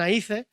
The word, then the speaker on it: ají: que también le dicen aí que luego hemos descubierto que venía de la palabra Ai pero como la J no se pronuncia pues le dicen Ah